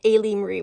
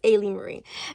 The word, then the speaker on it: Ailee Marie: I was always pronouncing her name incorrectly. I was pronouncing it a Marie, but it's a Ali Marie, but it's Ay Marie.